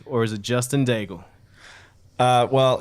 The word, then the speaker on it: Daigle: Well, it's a little tricky in proper French pronunciation, because it is a French Canadian last name. It is Daigle. So there's like a little bit of a roll of the tongue there for the GLE, but in all fairness,